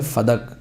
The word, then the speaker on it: فدک: میں لکھ رہا ہے۔ فدق لفظ غلط ہے، جو لوگ کہتے ہیں فدق، یہ غلط لفظ ہے، اصل لفظ اس کا جو صحیح تلفظ ہے، کریکٹ پروناؤنسیشن یا پروننسیشن جو بھی ہے وہ ہے فدق بے فتح الفاء والدال، فدق۔ بلدتن، یہ ایک شہر